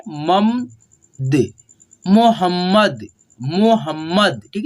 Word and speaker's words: मोहम्मद: मोहम्मद, ठीक है, मोहम्मद, म और म संयुक्त है, इसीलिए देखिए इस जो ये म है ना, आधा म, इसको हम लोग जब उच्चारण करेंगे ना तो इसका साउंड थोड़ा कम सुनाई देगा, लेकिन ये जो पूरा म है ना, इसको हम लोग क्लियरली सुन पाते हैं।